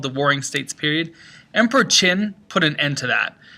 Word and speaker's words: Qin: about the qin dynasty which is spelled with a q confusingly enough sometimes you'll also see it spelled with an x x i n but it's the chin dynasty after emperor chin chin